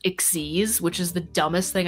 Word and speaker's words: Xyz: And there's this new type of monster that's spelled XYZ, but it's pronounced Ixies, which is the dumbest thing I've ever heard.